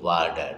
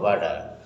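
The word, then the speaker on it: water: Samia drinks not a little ওয়াটার, নট a little ওয়াটার, ওয়াটার। এটা কিন্তু ওয়াটার না, বাঙালি আমরা ভুল বলি, ওয়াটার বলে না, আসলে উচ্চারণ ওয়াটার হবে না, এটা হবে ওয়াডা, ওয়াডা, ওকে, ওয়াডা, ওয়াডা, ইউ আন্ডারস্ট্যান্ড, থ্যাংক ইউ।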